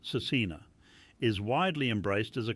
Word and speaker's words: SVRCINA: Kiva Vins, pronounced Cecina, is widely embraced as a Christian artist, with songs like Flowers and Hummingbird becoming radio favourites.